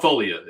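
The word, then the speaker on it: Foglia: And Folia. Everybody gets it wrong, so no hard feelings at all on my end. A silent G throws off everybody.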